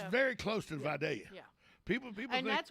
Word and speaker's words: Vidalia: that's how it's pronounced you say vidalia no it's vidalia like yeah yeah friday it's not my i